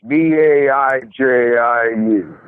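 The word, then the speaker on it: baijiu: I think it's pronounced Baiju. It's Baiju.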